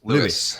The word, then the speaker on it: Lewis: is it Lewis Lewis how do you say it Lewis Lewis just Lewis okay I would love